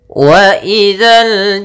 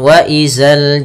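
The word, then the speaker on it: وإذا: Kemudian waidzal jibalu nusifat. Waidzal jibalu nusifat. Pada lafal dza sama kembali di sini jangan dibaca dengan zai jangan wazal jibal tapi waidza.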